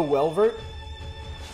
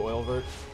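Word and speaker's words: Oeilvert: Oh, Welvert? Oh, you're right, it could be. It could be. That's how you pronounce it too, Oilvert.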